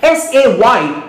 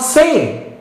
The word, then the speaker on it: say: here that's a diphthong s a y is not same it's say do you get that